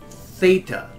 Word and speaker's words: theta: But the TH sound is represented by one letter in Greek, and it's called theta. So let's just try to do these 3 letters.